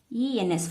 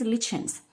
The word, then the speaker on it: lichens: Okay, here for lichens, Lichens. For this, actually two pronunciations are there. In few dictionaries it is lichens, in some more it is lichens. So both also you can use according to your convenience.